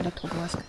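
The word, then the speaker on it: Elektrozavodsk: Ja, ich glaube Elektro Borsk, wird so ganz ausgesprochen.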